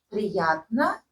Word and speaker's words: приятно: Приятно. Right? Don't skip any syllable.